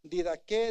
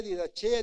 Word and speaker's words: Didaché: He mencionado personajes ahorita, hermano Luis les habló hace poco de la didque, didaché, didajé, pronúncielo como quiera, ¿verdad? Yo digo didaché porque así se escribe, pero yo sé que hay algunas formas.